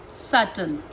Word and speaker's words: subtle: Bomb, climb, calm, crumb, debt, lamb, doubt, lamb, limb, subtle. Got it? समझे? M के बाद में और T से पहले तो बी जो होता है वो साइलेंट हो जाता है।